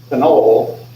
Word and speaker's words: phenol: Phenol is this molecule here. Right? And so you want to emphasize the OL when you have phenol to avoid confusion there.